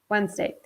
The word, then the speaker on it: Wednesday: the e D here is silent okay two syllable when's day Wednesday now the next day here is can be